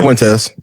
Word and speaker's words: Fuentes: Um, and there's the American first movement with like Nick Nick Fuetz for what? How do you say that? Fuentes.